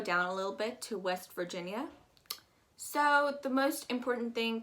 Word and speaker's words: West Virginia: to do here is you're going to pronounce that i a as just a y a west virginia um you really don't want to waste a lot of time on that eye because it's just non-existent west virginia i'm gonna go